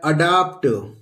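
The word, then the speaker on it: adopt: पी टी यह है अडॉप्ट अ डॉप्ट अडॉप्ट कहीं ए को अ प्रोनाउंस किया जाता है और कहीं ए को ए ही हम प्रोनाउंस करते हैं तो यह सारी चीजें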